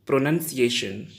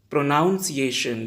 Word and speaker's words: pronunciation: Speak with me, pronunciation. And what people speak, pronunciation.